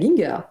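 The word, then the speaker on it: Gienger: certains auteurs, dont justement, je vous le dis à l'allemande, donc Michael Ginger, voilà.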